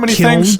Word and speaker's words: kiln: You don't pronounce the N in kill.